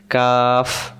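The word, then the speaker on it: قاف: ঠোট মিললে যাবে না কফ কাফ এবার আসেন উচ্চারণ কব অক্ষরের মাখরাজ রয়েছে কব অক্ষর কেমন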